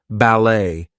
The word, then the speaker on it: ballet: from other languages Etc so things like ballet Gourmet we are not going to pronounce the T there she's a ballet dancer